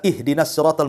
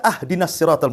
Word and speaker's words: ihdina: saja pengucapan batal contohanya kita baca ihdinatal mustaqim kan begitu kita baca ahdinatal mustaqim harusnya di kasrah kita fathah pula tuh harusnya ihdinat kita katakan ahd itu kan beda artinya